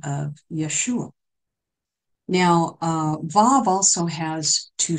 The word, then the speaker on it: Vav: The next letter, we'll get into each one of these, is Vav. V, we would pronounce it V-A-V, Vav.